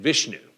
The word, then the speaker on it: Vishnu: or sh sh Iva you also hear it pronounced in different ways Shiva um and Vishnu v i s h nuu v i s